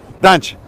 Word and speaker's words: Dante: Dante.